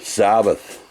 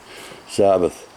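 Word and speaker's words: Sabath: Sabbath. Like Sabbath, as it's spelled. S-A-B-A-T-H. Sabbath.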